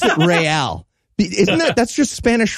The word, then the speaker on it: Real: I love that they pronounce it Real.